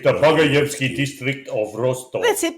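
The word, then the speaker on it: Багаевский: You got to deepen your voice when you do the Russian word. So, Bagayevsky. It's Bagayevsky. There you go. Sounds very Russian. It's the Bagayevsky district of Rostov.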